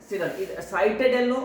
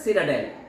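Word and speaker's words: citadel: साइटाडेल इसका प्रोनाउंसिएशन है सिटाडेल, क्या है सिटाडेल, ओके।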